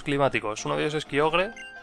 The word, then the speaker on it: Kyogre: Uno de ellos es kyogre o koger como se supone que se pronuncia pero como que no